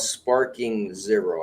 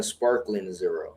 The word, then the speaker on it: Sparking Zero: I didn't realize it was called Sparking Zero. I kept calling sparkling zero.